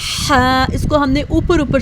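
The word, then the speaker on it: حاء: इसको हमने ऊपर ऊपर से अदा नहीं करना, इसको हमने मजबूत आवाज़ से हा, हा मिडल थ्रोट से अदा करेंगे। इस पर pronounced from the middle of द हा, हा, हा। Throat with a strong sound के साथ अदा करेंगे।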